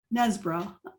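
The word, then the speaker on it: Knaresborough: the from the sea um not how you pronounce that yeah nesbro okay which harrowgate however you say that was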